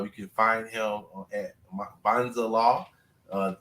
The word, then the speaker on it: Mbanza: can find him at Bonza law uh m is silent so it's m b